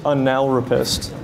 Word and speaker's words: analrapist: He also believes that he is an accomplished analropist. And it's okay, it's pronounced analropist, not the way you might be thinking.